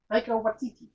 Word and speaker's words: Taika Waititi: Taika Waititi. Oh, Taika Waititi.